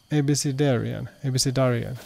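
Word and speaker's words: abecedarian: It's pronounced ABC Darian. Okay, yeah, that makes sense. ABC Darian.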